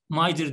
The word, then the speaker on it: MITRE: Mitre bana diyor ki, bu arada Mitre Mider diye okunuyor da ağız alışkanlığı Mitre diyeceğim.